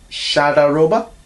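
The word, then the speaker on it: Shahdaroba: 1963, one of Roy's best, In Dreams, with Shadaroba, that's how you say it.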